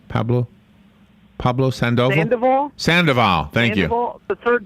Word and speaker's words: Sandoval: sandoval how do you say his name pablo pablo sandoval sandoval thank you the third baseman for the